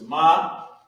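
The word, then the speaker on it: מה: So you got Ma, which is M, which would be in English M-A-H, but in Hebrew is Ma, and then there's Ha, connected. And it's pronounced Ma, and it equals how or what.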